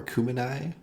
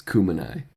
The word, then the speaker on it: Cumeni: Battle of Chumai or Kumini. Kumini. I had uh my wife look at the pronunciation guide with me because she knows how to read those things. It's kumai.